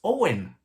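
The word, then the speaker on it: Eoghan: was pretty easy but it's spelled e-o-g-h-n so i was thinking okay maybe then it's going inside and it will be okay or something like that but it turns out it's pretty basic it's owen i mean imagine we know o and the o w e n but they spell their o and like that e o h a n or e o i n that's how they pronounce their own you know and o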